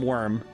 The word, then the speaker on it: wyrm: basic sea monster uh how is a worm one oh like w-y-r-m like uh w-y-r-m worm I I wish there